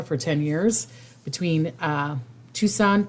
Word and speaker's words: Tucson: 10 years between uh Tucson Tucson my uncle used to always joke around saying Tucson Arizona because that's the way it's spelled between Texan and Tucson